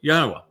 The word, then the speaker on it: Yahweh: absolute and irrefutable proof that God's name is pronounced Yahweh.